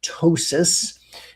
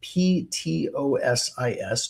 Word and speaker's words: ptosis: We call it ptosis, and you spell that it starts with a P. The P is silent. p t o s i s ptosis.